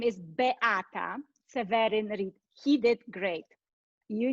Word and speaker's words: Beata: you let me go back my name is be atta severin he did great you need i need